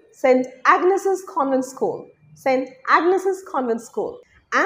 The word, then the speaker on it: St. Agnes's Convent School: School number 4, St. Agnes Convent, na. Right way to say that is St. Agnes's Convent School, St.